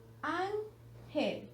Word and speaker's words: ángel: Ahora pronunciémosla varias veces hasta saber en cuál tiene el acento. Ángel. Ángel. Hemos notado entonces que la sílaba que tiene el acento es la sílaba an y que es la última, penúltima sílaba. Eso quiere decir que es una palabra grave.